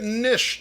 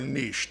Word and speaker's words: niche: bit niche to me, or niche. You can pronounce it however you wish. I first heard it niche. Niche seems more true, more faithful to the French, but pronounce it as you will.